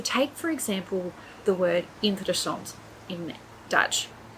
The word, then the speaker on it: interessant: So take, for example, the word interessant in Dutch. Interessant is not interessant. It's not interessant. So you can hear that if I change the stress for the different part of the word, it doesn't actually sound right anymore.